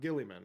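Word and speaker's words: Guilliman: So, for instance, Ultramarines have access to Rabbout uh Gillimman or Gulman. I don't I think it's Gillimman is how it's pronounced.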